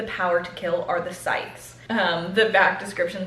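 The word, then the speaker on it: Scythe: Sythe.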